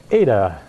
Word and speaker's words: eta: Yes, eta looks like an N with a hanging down extra line. If you want to call it N, I don't care, but it's pronounced eta. I do care. You should learn your darn Greek letters if you're going to be grad students. Learn your Greek letters, that's eta.